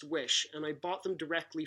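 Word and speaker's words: Oysi: frames it's spelled o y si but it's pronounced wish and I bought them directly from wish the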